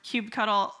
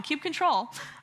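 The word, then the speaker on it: kubectl: the watch tool or cube cuddle or I said it wrong Cube control uh and then dasw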